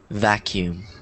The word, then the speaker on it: vacuum: one vacuum vacuum vacuum that that word always looks weird to me because it has two U's um but yes that's how it's pronounced vacuum any other words signif